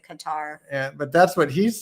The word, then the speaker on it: Qatar: known where he's from cutter cutter that's not how you pronounce it you pronounce it Qatar yeah but that's what